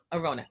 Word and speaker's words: Arounna: Arona.